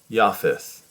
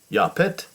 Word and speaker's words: Japheth: here japhethites so the the pronunciation varies widely iafis yafis yapit yafit or with the th on the n and spelling as well